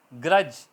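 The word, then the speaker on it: grudge: इस तरह ब्रिज, लिखने में BRIDGE है ब्रिज, मगर बोलने में डी साइलेंट है। ग्रज, बुगज, कीना, तो डी यहाँ भी साइलेंट है।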